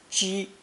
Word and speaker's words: 几: The second pronunciation of this character is first tone ji, usually found in conjunction with a pictogram showing breath rising in the throat and being expelled forcefully.